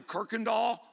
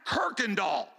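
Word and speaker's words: Kuykendahl: THERE'S NO R IN THE NAME KIRKANDALL. THERE'S A U AND A Y IN THE NAME AND IT'S PRONOUNCED KIRKAND DOLL.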